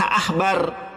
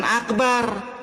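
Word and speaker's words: עכבר: Ini dibacanya ph ahbar, bukan akbar. Di sini ain. Kalau akbar itu pakai alif dalam bahasa Arabnya.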